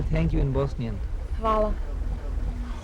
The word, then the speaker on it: hvala: Hvala. Hvala.